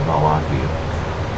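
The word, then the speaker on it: Vallaki: One is Barovia village to the east, Sarpool to the northwest, and Ravenloft, and there's also another location, Valaki, I think that's how I pronounce it, Valaki, to the southwest.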